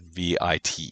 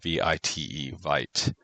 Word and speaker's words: Vite: using a thing called VITE is how it's spelled. I believe it would be pronounced Vite.